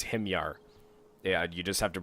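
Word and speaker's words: Himyar: I first started youtube I always used to pronounce these guys as him yarr or sorry Himmler I always used to say but it's him yarr yeah you just have to pronounce it the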